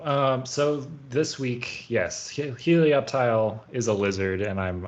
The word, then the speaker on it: Helioptile: randomly selected Pokemon is Helioptile I think is how you say it um delayed um I think it's like reptile yeah like the sun um